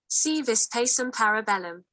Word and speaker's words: Si vis pacem, para bellum: So let's find out pronunciation on the web, right? So Thank you. Si vis pacem parabellum.